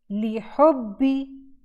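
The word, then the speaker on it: لِحُبِّي: फिर है बा कसरा बी, हुब्बी, हुब्बी, ली हुब्बी, ली हुब्बी। तो यहाँ आप नोटिस करें कि हम दो बा प्रनाउंस कर रहे हैं। ये मेक श्योर आपने करना है कि दो बा यहाँ पढ़े जाएं।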